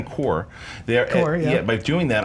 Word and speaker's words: Corps: it was gonna happen if you're saying it phonetically it would be corpse it's it's core core green lights are cor all right was it